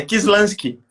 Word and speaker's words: Kislansky: se eu pronunciei certo o seu nome, o seu sobrenome, Kislansky. É assim que se fala? É Kislansky.